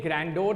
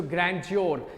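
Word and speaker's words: grandeur: नाउ इसकी pronunciation ध्यान से सुनिए, ये ग्रैंडोर नहीं है, ड नहीं बोलना है, ज बोलना है। सो ग्रैंड्योर, सो ग्रैंड्योर क्या है,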